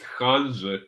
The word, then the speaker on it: Hanžek: uh, my surname is pronounced Hanžek, but that's okay.